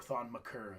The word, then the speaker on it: Thon Maker: And I'm interested to see how Thon Maker develops. Or Thon Maker, I found out is how you're supposed to pronounce it.